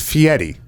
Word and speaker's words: Fieri: give me a yes give me a pronunciation here it's fiery okay i don't know